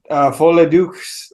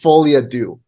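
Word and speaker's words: Folie à Deux: I hope Joker Folle Dukes. I can't pronounce it.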